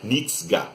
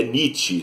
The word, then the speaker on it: Nietzsche: Ele falava Nietzsche. E aí o Barry Miles explicou para ele que não, John, é Nietzsche, né? E o John comprou um livro do Nietzsche, passou a ler Nietzsche,